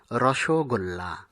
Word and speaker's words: রসগোল্লা: রসে ভরা গোল্লা, এটিকে আমরা অনেকেই রসগোল্লা উচ্চারণ করে থাকি, কিন্তু এটির সঠিক উচ্চারণ হবে রসগোল্লা।